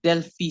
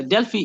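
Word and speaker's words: Delphi: across what we call delie study uh dely is spelled as d e l p h i dely study uh in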